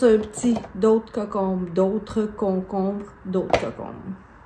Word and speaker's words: concombre: Et vous avez le cocombe.